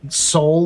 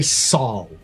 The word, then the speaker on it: Sol: you ever seen someone say the word soul, like solar system, the way most science fiction will say um you know, our our sun, our star system? They all say Saul.